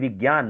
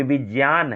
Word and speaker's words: विज्ञान: जिसे विज्ञान हम लोग पढ़ते हैं ना, विज्ञान नहीं, विज्ञान नहीं, ये विज्ञान है।